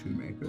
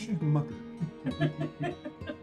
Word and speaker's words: Schumacher: I'm Shoemaker. This is my wife, Damon Shoemaker. Schumacher. People mispronounce it all the time. It's Schumacher.